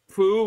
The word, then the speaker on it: Prue: Prue rhymes with crew.